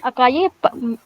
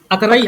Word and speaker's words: Acarai: सर अकाई अकराई, अकराई, ठीक है। Spelling अगर इसकी आएगी तो ACARAI, ये नाम रहेगा, ठीक है।